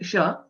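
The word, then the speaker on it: श: The right way to pronounce sh, sh, the place of origin is similar to that of chakara, cha, sh. It is plain sha, where, for example, we use Shankara, Shiva, and so on. That is sha.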